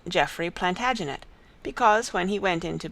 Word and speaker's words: Plantagenet: The Latin name for broom is planta genista, and gradually it came to be pronounced Plantagenet.